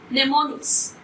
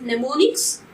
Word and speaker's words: mnemonics: tricks yes yes here the ammo is silent mnemonics i pronounced detroit it is mnemonics so memory tricks already we are discussing the